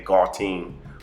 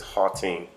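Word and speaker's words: Gauteng: it's spelled g-a-u-t-e-n-g and i know in the states we would say gall team or something to that effect but it's hall team and based off the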